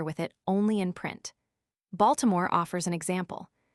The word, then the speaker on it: Baltimore: Baltimore offers an example. The natives always drop the medial i and so reduce the name to two syllables.